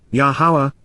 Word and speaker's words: Yahowah: light bar or with the illumination of yahwah yahawah the proper pronunciation of the name of yaha our eloa